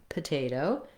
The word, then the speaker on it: potato: Both O's are the same, where this first O in potato is vowel schwa, very short, sounds like and then the last O is a clear diphthong O, potato.